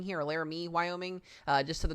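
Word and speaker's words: Laramie: the east of uh I believe this is pronounced as Larami or Larami Wyoming here. Larame Wyoming uh just to the northwest of Cheyenne here.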